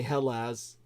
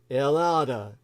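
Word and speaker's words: Ελλάδα: soared that's Greece in the Greek language VH is silent so you wouldn't say Hellas as such in Greek you say allahs but I prefer the more poetic elada another EU member though they almost grexited out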